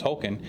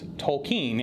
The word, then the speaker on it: Tolkien: wrong all along because I always thought it was called Tolkien. It's Tolkien, and we will talk about that ad nauseum because it drives me crazy.